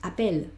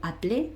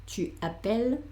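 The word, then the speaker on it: appelle: madre te llama bien y pronunciamos appel y por qué pronunciamos appel hay una razón evidentemente. ¿Y cuál es la razón? es que hay una doble l, es decir, esta luplicado. Por eso yo ahora pronuncio no apple, sino apel, il apel, el apel, on apel.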